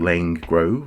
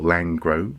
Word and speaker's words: Laing Grove: end of this street we live in a street called lane grove or langro depending on how you want to pronounce it and uh and i